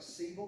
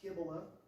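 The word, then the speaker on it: Cybele: The temple of Kiba looks like sevil, but it's actually pronounced Kibila and the temple of Zeus were connected by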